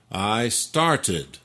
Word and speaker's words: started: Par contre, avec le verbe to start, Ah, I started. là on l'entend bien.